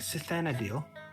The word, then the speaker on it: Cythanadiel: pulls out of papers do i pronounce this right cythena deal that would be correct question is who are